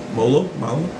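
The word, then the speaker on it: Mollo: a numeric well it's it's an italian name five letters m-o-l-l-o we talked for six weeks on how to actually say his name correct molo and someone actually asked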